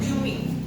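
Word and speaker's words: קומי: Kata bangkitlah dalam Yesaya 60 ayat 1 berasal dari bahasa Ibrani kub kumi. Bacanya gitu bukan ya? Kumi gitu ya.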